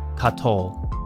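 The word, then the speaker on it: קָטוֹל: the infinitive absolute that can be spelled either with a holum or with a hole involved but either way we have the sound the pronunciation katol now for the most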